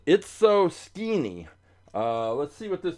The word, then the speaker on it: Itso-Skeenie: uh this one called It's So Skinny. It's so It's so skinny, but it's spelled sk e n i e. It's so i tso dash sk e n i e. So it's so skinny.